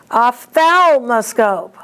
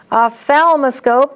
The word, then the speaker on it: ophthalmoscope: And these next three, be careful with the accents and be careful with the PH. It's an F sound. Ophthalmologist. Ophthalmoscope. Ophthalmoscopy. So that first one, ophthalmologist, the accent is on MOL. Ophthalmoscope, the accent is on THAL.